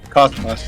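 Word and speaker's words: kosmos: It says Cosmos, like Cosmos. That's how you pronounce it.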